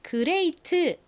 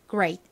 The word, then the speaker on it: great: 끝에 네티는 트 소리가납니다 한국식으로는 그레이트 이렇게 표기를 하고 읽는 경우가 많은데요 아의 뒤에이가 와서 미국식 원어 발음으로는 레가 아니라에 가깝게 발음이 됩니다 Ray 그리고는 이렇게 단어의 가장 끝부분에 오면 약하게 바람 빠지듯이 소리가 나죠 이렇게요 그래서 빠르게이 단어를 발음하다 보면 그 그 그 이렇게 t 소리가 거의 나지 않고 마치 침처럼 들립니다 이런 식으로 들려요 great great 자 발음 연습해 볼까요